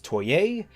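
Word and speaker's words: Toye: of Monica rial is named Ronald toy not toy a in fairness I think calling him toy a does him more favors than not I think it's a much stronger pronunciation of his last name but do you know that he technically pronounces it toy I just prefer to yeah it sounds better to my ear finally Jimmy Markey as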